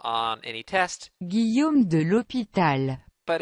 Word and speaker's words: Guillaume de l'Hôpital: I don't really know how to pronounce it. Guillaume de L'Hôpital.